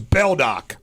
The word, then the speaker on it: Beldock: went home not judge beldock beldock s rhymes with rock like a Hardy few